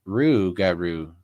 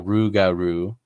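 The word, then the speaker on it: rougarou: over here uh they the Lop garoo when Native Americans pronounced it sounded like Ru Garo and so the Native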